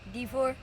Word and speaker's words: DeFoor: D4. D4? Yeah. Spell it.